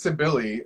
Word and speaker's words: Sibilly: like hi I'm Sibley and I was like okay it's written down phonetically here I put down s-i-b-l-e-y yes I love it if it's phonetically it is to Billy so like when people